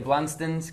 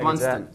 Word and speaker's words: Blundstone: They're Blunston. Blunston. You don't pronounce the O so profoundly.